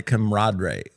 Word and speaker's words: camaraderie: There's nothing like the camaraderie.